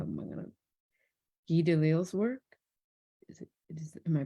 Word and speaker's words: Guy Delisle: I like, do I find inspiration in how am I gonna, Guy Delisle's work? Am I pronouncing that right?